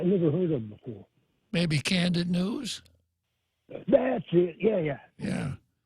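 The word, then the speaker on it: Kandit: Candid is the Chamorro word for light. Candid. It sounds like C-A-N-D-I-D. Yeah, so, Candid, as in opening. Yeah. So K-A-N-D-I-T. If it's dark, you say, Baba Fanny Candid, open the light.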